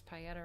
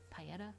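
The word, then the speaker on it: Pietà: Pieta with the little on the A. It's Italian. I feel like I'm saying paella, but I think it's the Pieta. Whatever.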